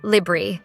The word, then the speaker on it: library: Instead, we say something more like comfortable, or with library, we skip one of the R sounds, so it's libri.